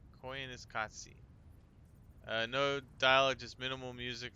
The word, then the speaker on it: Koyaanisqatsi: Okay, pronounced Koyaanisqatsi. Koyaanisqatsi.